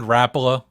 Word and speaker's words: Rapala: Notice I said Rapala. That's how it's spelled. That's how it's said.